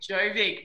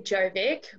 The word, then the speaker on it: Jovic: So I say Jovic, but that is technically incorrect, and my father would probably give me a slap across the hands because it's actually J's are Y's in Serbian, so it's more Jovic.